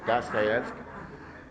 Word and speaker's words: Dostoiévski: Eu termino de escrever um romance, como qualquer Dostoiévski, gostaram da pronúncia? Dostoiévski, em russo.